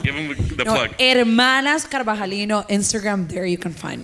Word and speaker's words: Carvajalino: Hermanas Carvajalino, Instagram, there you can find me. Some other places, but Hermanas Carvajalino. Wait, spell it out.